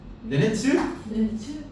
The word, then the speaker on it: 네네트: 네네트. 네, 네네트라고 더 많이 발음하는 것 같다.